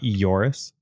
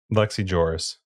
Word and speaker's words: Lex Ejoris: Is that how you say it? Ejoris? Yep. Not Eoris? Nope. Sometimes the J is a Y. Just. All right. Lex Ejoris.